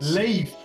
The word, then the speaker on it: Leif: you should find him it's pronounced leaf okay like uh and